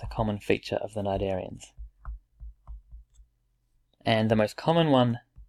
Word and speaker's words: cnidarians: the cnidarians phylum Cnidaria c is silent and we pronounce it cnidarians and we can see